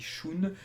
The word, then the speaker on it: Shun: Donc un grand merci à lui car il a beaucoup de patience, notamment sur les prononciations. C'est vrai qu'au début je disais Shun, maintenant je dis Shun.